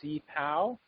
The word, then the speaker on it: CPOW: that CP W um I'm told that you're supposed to pronounce this cpow is um is the